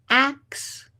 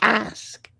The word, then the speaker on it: ask: The confusion between ax, AX or AKS, and ask is one of the most compelling examples of how language evolves over time through power and culture and class, far from being a modern mispronunciation.